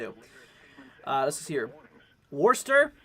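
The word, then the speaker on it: Worcester: of those greatly appreciated Guinea says we say wasta so let's see uh Worster oyster in portions of West okay what's the Worster we're just gonna call it warster uh anyways so yeah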